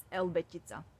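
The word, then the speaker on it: Елбетица: We pronounce it as Elbetitsa.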